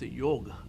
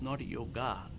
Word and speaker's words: yoga: Yeah, the yoga, I think the word yoga is not pronounced right to start with it. It is a yoga. It is not yoga. Correct. Yeah. And ga is a silent yoga.